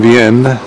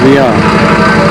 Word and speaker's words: Vienne: This is from the Rue de Pomme, going to the Gare of Vienne. He said Vienna, but I don't think it's pronounced Vienna for the French.